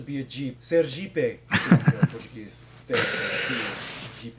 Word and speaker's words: Sergipe: Sergipe is how you pronounce it.